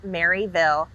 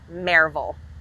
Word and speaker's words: Maryville: you're not a local it is not pronounced maryville it's pronounced marvel so now that we've